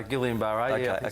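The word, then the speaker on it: Guillain-Barré: The Gillian Bar, is that how it's pronounced? Uh, Gillian Bar.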